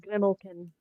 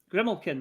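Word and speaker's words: Grimalkin: m yep a l k i n it's pronounced grimlin grimlin okay there you go yeah it's based on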